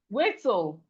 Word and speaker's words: whistle: We have whistle. We have whistle. The T in whistle is silent.